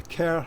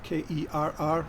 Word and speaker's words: Kerr: Ferniehurst Castle was the castle of the Kerr family, K-E-R-R, which is how it's pronounced, not Kerr.